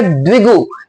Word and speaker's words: द्विगु: है द्विगु समास और द्विगु को देखें तो द के नीचे मैंने व बनाया हुआ है। यानी कि अगर हम इसको उच्चारण करें तो क्या उच्चारण निकलेगा? द्विगु यानी द्वि द्विगु में ऐसा लग रहा है जैसे हम दो संख्या बोल रहे हैं।